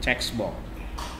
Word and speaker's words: checkbox: Hati-hati, checkbox bacanya bukan cebok ya teman-teman ya. Ini checkbox.